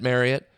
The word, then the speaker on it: Marriott: And he clearly said it, Marriott. Clearly said that's how the family's always said it. Said it's been mispronounced for a long time. Family knew it was mispronounced.